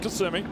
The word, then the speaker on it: Kissimmee: Yeah, they pronounce it Kissimmee.